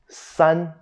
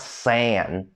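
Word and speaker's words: 三: no just r r son son is not sand okay so get rid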